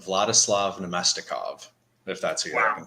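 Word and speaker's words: Vladislav Namestnikov: And just to help Nadesify out with the pronunciation earlier, it's Vladislav Nemestikov, if that's who you're looking for.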